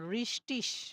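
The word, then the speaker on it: richtig: তো এরপরে আপনাদের যদি কোনো শব্দের শেষে যদি ই আর গে থাকে তখন এটা উচ্চারণ হচ্ছে ইসের মতো উচ্চারণ হবে। ঠিক আছে? ইস। যেমন রিস্টিস মানে সঠিক, রিস্টিস মানে সঠিক।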